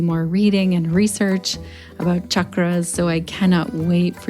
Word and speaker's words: chakra: So chak and then the retroflex R sound, r, chakra.